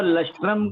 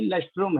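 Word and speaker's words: lustrum: 5 years को लस्ट्रम pronunciation लस्ट्रम है कि लस्ट्रूम है? क्या है? लस्ट्रम. लस्ट्रम. करेक्ट. लस्ट्रम. लस्ट्रम बोलेंगे उसको. 5 years को बोलेंगे हम लोग लस्ट्रम.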